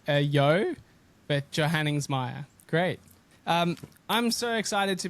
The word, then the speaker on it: Johanningsmeier: Johanningsmeier is how it's pronounced. Johanningsmeier, yeah.